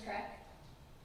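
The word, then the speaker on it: Krech: again you speak a little softly and CRA all right you spell that me first and last name I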